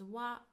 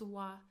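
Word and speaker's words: は: It is pronounced as wa wa but we write it as hiragana ha ha. So when we use it as a particle we pronounce it as wa.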